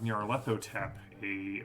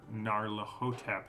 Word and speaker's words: Nyarlathotep: But she will be back with her Masks of Nyarlathotep, or Narlahotep, depending on where you put the emphasis on what syllable.